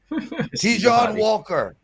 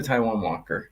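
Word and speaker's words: Taijuan Walker: oh yep yep that hot do scene okay tjon Walker strikeouts over three and a half let's go pres I love how you pronounce everything French but it's actually Taiwan but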